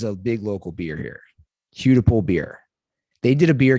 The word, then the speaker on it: Hudepohl: Hudipole beer. They did a beer can that season. So it's spelled Hudepohl is Hudipole beer.